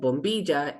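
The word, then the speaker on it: bombilla: that straw is called Boma it rhymes with tortilla um so there's a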